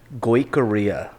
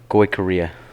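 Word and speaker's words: Goicouria: hardest last name to spell in real estate korea korea yeah go away korea learn how to spell that at the start was experience g-o-i-c-o-u-r-i-a okay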